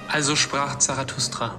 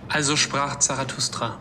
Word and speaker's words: Also sprach Zarathustra: Now I never know how to pronounce this song title, so let's get an assist from Wikipedia. Also sprach Zarathustra. Come again? Also sprach Zarathustra.